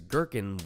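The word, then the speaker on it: gherkin: I love the word girkin because girkin rhymes with working.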